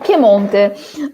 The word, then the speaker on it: Piemonte: Is that how you pronounce it? Piedmont? Yeah. Oh, Piemonte.